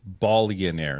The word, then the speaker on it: Bonaire: um bionaire which is it's Bonaire not billionaire we're not pronouncing it wrong that's just how it's said uh or uh spelled